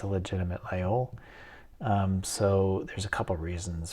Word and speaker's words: Laguiole: Um, as I understand it, you pronounce this Laguiole.